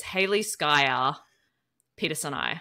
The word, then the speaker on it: Haliskia peterseni: So Hals is in reference to salt for the ocean, and then Skya is a phantom. So technically, and this is in the paper, the proper pronunciation is Haliskia peterseni.